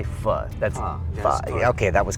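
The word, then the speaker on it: phở: That's pho.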